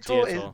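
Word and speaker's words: Diotoir: I can understand why not pronouncing it, but I think what someone just said to him is Dietor.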